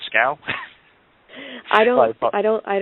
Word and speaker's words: Schow: so I pronounced ing your last name wrong this whole time it's scow I don't I don't